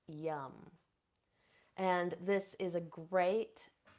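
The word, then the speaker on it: Yam: can do is bring in the seed sound yum so this is spelled y m but it's pronounced yum and this is a great um a great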